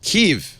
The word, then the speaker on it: Kiev: She should know and she said Keev. I said this is crazy. This woman can't pronounce this correctly.